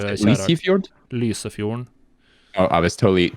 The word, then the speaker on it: Lysefjorden: I went to Norway one time, 2013, some years back, and went to the Lysefjord, and I loved it.